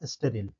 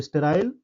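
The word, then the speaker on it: sterile: लेकिन इसी वर्ड को जब अमेरिकन वर्ड में बोलेंगे अमेरिकन इंग्लिश में तो यह हो जाएगा स्टेरिल। ठीक है? तो स्टेराइल ब्रिटिश इंग्लिश और स्टेरिल अमेरिकन इंग्लिश।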